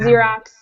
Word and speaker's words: Xerox: chobia chopon all right the last five sound like a z sound so it would be Xenon Xerox xenophobia and xylophone oh